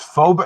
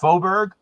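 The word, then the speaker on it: Faubourg: opened it oh so so this f it's phobia it's pronounced foburg yeah is it used to be dixie wow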